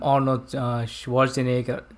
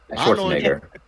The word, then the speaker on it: Schwarzenegger: movie star that time arnold schwarzenegger that's how he pronounced his name right schwarzenegger uh like german tongue arnold schwarzenegger okay so